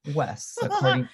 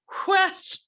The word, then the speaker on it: Wes: Because it's not Wes, according to No, your it's pronunciation. you have to like whistle it. Whoosh.